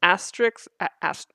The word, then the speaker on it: asterisk: Just say asta and then say risk.